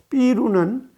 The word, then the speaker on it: 삐루: 삐루는 맥주를 뜻하는 영어의 비어의 일본식 발음이죠.